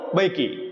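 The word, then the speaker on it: Mbeki: जिनका नाम है थबो बेकी ठीक है थबो बेकी ठीक है एम यहां पे साइलेंट रहेगा थबो म बेकी ठीक है ये सेकंड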